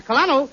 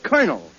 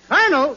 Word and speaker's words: colonel: no no you see that word is pronounced colonel colonel yes Colonel where did